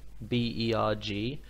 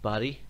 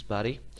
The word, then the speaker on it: Berg: formations by the way that looks like burg B ERG but it's actually pronounced buddy in Swedish Markus body the word burg in Swedish is actually the